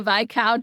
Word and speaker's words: viscount: clear, she'll later go on to marry a viscount. Is that how you say it right? Viscount. Why am I doubting myself? Vic count. I'm thinking uh Bridgetgerton the V count and the V count.